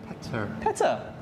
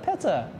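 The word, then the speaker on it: Petyr: Peter, I don't know, you're just trying to be fancy, that's all, how do you pronounce it? Petter. It's like Marta, Petter.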